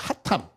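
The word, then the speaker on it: חתם: 감추었다 그런 의미가 아니고 이거는 핫탐이라 그래요 하탐 발음이 이스라엘어로 하탐이 히브리어로이 하탐이라 그래요 하탐이라는이 말은 무슨 말이냐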